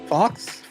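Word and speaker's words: faux: I don't know fa Fox Fox whatever f a uux f f see I'm I'm from the hood I'm illiterate it's pronounced fo uh I don't have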